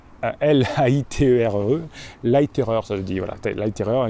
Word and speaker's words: Leiterer: un jeune neuroscientifique qui s'appelle Rupert Larriman, ça s'écrit L-A-I-T-E-R-E, Leiterer, ça veut dire, voilà, Leiterer, il est de Salzbourg, voilà, il est de Salzbourg.